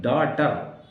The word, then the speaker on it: daughter: डाटर, DAUGSTER, देखिए जी का कोई उच्चारण नहीं है डाटर में, तो आपको जी जो है वो ड्रॉप करना है, you have to drop, you have to you have to speak daughter, right?